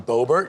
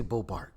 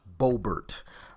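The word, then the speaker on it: Boebert: or Bo is it it's bobbert right I always say bowart goodness gracious I'm I'm almost positive it's pronounced bobbert um but listen he ran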